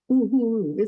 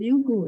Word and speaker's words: Uhuru: Uhuru. I thought it was Uhuru. No, it's ooh. All the U's are pronounced like ooh.